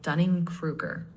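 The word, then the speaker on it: Dunning–Kruger: tendency known as a Dunning Krueger effect nice a couple of tweaks mastery is mastery and Dunning Krueger is usually said like Dunning Krueger you sounded clear just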